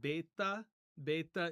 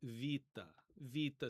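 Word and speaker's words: βῆτα: in modern Greek pronunciation, what many people will call beta is going to be pronounced as vita. So if you hear me pronouncing it with a V, that's just because I'm trying to use modern Greek pronunciation.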